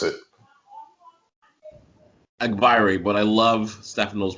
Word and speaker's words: Agbaire: david and for the record his name is pronounced a byray all right it's really not yeah it's not